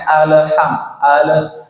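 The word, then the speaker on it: الحمد لله: sebentar itu terkait dengan qolqolah lam ini tidak bisa di Qalqalah tidak bisa dipantulkan tidak pengucapannya Alhamdulillah ya Terkadang kita agak apa namanya nyeret ya secara tidak sadar alhamdulillahirobbilalamin secara tidak sadar memang kita mengucapkan seperti itu dan tidak sadar gitu Padahal alamnya itu tidak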